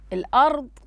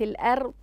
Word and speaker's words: الأرض: أيضا هنا الأرض مفخمة وليست الأرض، الأرض مفخمة. لدينا تفخيمين في الضاد وفي الراء أيضا، فننتبه إلى ذلك. هنا لاحظوا معي، هنا في الآية 15: وبئس المصير.